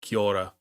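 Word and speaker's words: Kyora: Why it rhymes with aura? Kiora.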